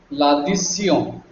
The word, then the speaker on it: l'addition: But it is not addition, this tion is pronounced as sion. L'addition, it's a nasal word.